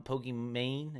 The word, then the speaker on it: Pokimane: Pokimane, is that how you say her name?